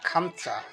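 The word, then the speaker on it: خمسة: 5, আরবিতে উচ্চারণ হবে খামসা।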